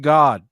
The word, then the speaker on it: Gad: that's the devil and it's pronounced God it's pronounce God so